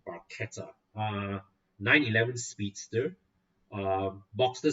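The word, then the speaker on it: barchetta: uh it's spelled b-a-r-c-h-e-t-t i used to call it bacheta which i think sounds cooler but it's italian so it's called barcata uh 911 speedster uh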